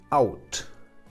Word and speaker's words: out: Y en este caso la pronunciación va a ser AU. Vemos ejemplos. La preposición out.